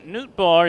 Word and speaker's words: Nootbaar: midwest League this year Lars Newt bar it's spelled n-o-o-t -b-a-a-r pitch from in-law hard